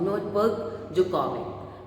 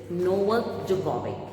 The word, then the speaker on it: Novak Djokovic: first picture is of Novak Djokovic. So D is silent in it. Okay, so the first picture, as you can see on your book, okay, in your book, this is Novak Djokovic.